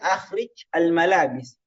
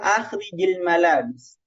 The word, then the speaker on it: akhrij al-malabis: Seharusnya kan akhrij al-malabis. Tapi orang bilang akhrijil malabis. Sebenarnya dari segi penulisan ini tidak, tapi dari segi pelafalan dibolehkan.